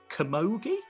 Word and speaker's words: camogie: thing um and i don't know if i'm pronouncing this right but you used to play camogie yeah yep yeah you got it yeah is